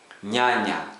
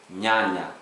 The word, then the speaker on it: nyanya: The way people pronounce the word onion, the first N, onion, that's how we pronounce NY. For example, nyanya, tomato, nyanya, tomato.